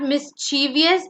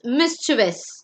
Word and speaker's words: mischievous: So it is not mischievous, it's mischievous, which means being naughty.